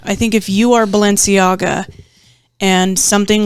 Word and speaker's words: Balenciaga: Bella something uh the clothing company yes oh Balenciaga yeah yes that's how you say it so